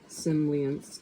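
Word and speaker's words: Tsimlyansk: Its administrative center is in Rostov-on-Don, the town of Semlyansk, stress on the last syllable, dates back from the construction of an electric power station on the nearby Semlyansk Reservoir in 1961.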